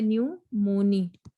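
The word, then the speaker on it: pneumoniae: This, और Streptococcus new, P silent होता है, न्यूमोनी लिखते ऐसे, न्यूमोनी बोलते हैं।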